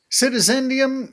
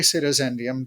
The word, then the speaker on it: Citizendium: Did I pronounce that correct? Citizendium, yes.